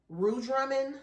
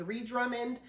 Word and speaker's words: Ree Drummond: on the Pioneer Woman, Ree Drummond. I think I called her Rue Drummond on the video. That was my fault. I did not mean to say Rue. I know her name is Ree Drummond.